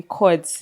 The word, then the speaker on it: Pchords: Cords without the P without the P. The P is silent. Very much silent. So ladies and gentlemen, we just had the most amazing chords, a phenomenal musical artist.